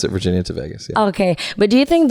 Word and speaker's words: Virginia to Vegas: Virginia to Vegas at Toronto Vegas okay we pronounce it Virginia to Vegas okay but do you think that Derek and